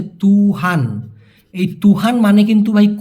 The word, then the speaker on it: tuhan: আর একটা হচ্ছে তুহান, TUHAN উচ্চারণটা হচ্ছে তুহান।